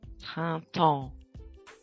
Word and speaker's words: printemps: Repeat, printemps.